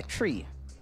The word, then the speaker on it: Twi: It's pronounced, it's spelled T-W-I, but pronounced T-R-I, tree, from Ghana.